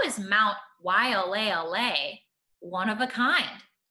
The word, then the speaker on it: Waialeale: let's take a look why all a all hey let's put that together Waialeale that's an interesting word